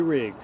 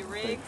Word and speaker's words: Riggs: Spell that. C-A-Y-T-O-N. And which one? Riggs.